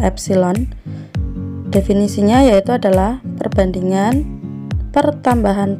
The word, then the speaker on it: epsilon: Kemudian yang berikutnya adalah regangan atau strain, disimbolkan dengan simbol seperti E, itu bacanya adalah epsilon.